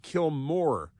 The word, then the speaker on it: Kilmar: It's Kilmar, but I think it's pronounced Kilmore.